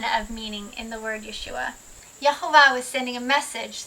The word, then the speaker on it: Yeshua: we're going to say it yahua yua yahu Yeshua Yeshua the rightful King the bridegroom the son